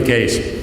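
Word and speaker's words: Kase: It should have been K-E-E-S, but we don't know how to pronounce Dutch names, so he's going to be Case.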